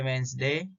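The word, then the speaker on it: Wednesday: देखो ये common words है जिसमें D है लेकिन वो हमेशा साइलेंट रहता है, जैसे वेंसडे, हैंडसम, हैंकरचिप एंड सैंडविच।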